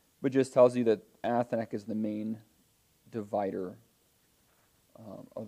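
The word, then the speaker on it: אתנח: Athnak, yes. Athnak, which you can remember like the Aflac duck. Like it looks like the duck. Aflac, Athnak. A beak.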